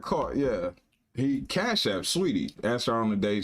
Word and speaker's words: Saweetie: That's Her name is Sweetie or Saweetie? Sweetie. No. Sweetie. It's Sweetie.